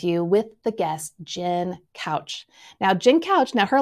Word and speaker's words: Kautsch: It's kind of different, but hers is simply pronounced couch.